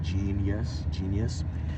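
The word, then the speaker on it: jeen-yuhs: It's spelled like Jenyuhs, like Genius.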